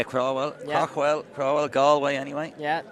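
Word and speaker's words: Craughwell: How do you say that? Crowell? Yeah, Crowell.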